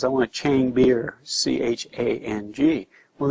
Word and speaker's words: Chang: You know, everybody comes over here and says, I want a Chang beer, C-H-A-N-G. Well, they don't have that A sound. It's an A sound, Chang, and it's the word for elephant.